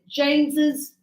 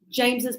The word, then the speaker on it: James's: When the name ends in s, we are going to put the apostrophe after the s. But when we speak it, we will pronounce it. So don't write it, but say it.